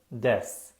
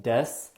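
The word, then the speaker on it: です: lot of people ask why you don't pronounce the u sound in desu in japanese it's pretty common to drop the u and the e vowel sound when you meet someone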